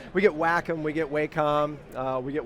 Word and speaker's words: Wacom: get asked every time it's technically walking lock but but we get there is a third option oh yeah Walkom is uh probably the least known and the actual accurate pronunciation we get Wacom we get Wacom we